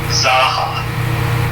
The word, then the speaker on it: Zaucha: It's pronounced Zaucha. But when I was a youngster, back in the Stone Age, people always called me Zaha. And I'm like, you know what? I'm just going to go with that because it's easier to pronounce. It just sounds like you're laughing, but you put a Z at the beginning.